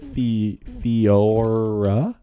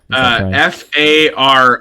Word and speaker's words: Farore: Is it Fiora? No, Fiora. No. Okay. Farore. Oh, Feora. Wait, Feora. How do you spell it?